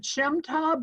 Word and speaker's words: Shemtab: Is it Shemtab? Is that how you say it? That is how you say it, yeah.